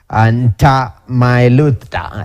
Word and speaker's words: Ntamailuta: Ntamailuta. You know? That's a beautiful name, but pronunciation is another word, yeah? I like it, Ntamailuta, but it's pronounced with an M and Exactly.